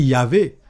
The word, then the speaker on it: Yahvé: Mais quand on dit Yahvé, c'est la prononciation du nom de Dieu qui s'écrit YH WH.